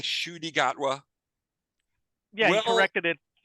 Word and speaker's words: Ncuti: You know how everyone's been saying Ncuti Gatwa? Yeah, you corrected it. To that's your story. Ncuti. There's an N and then a pause and then Ncuti.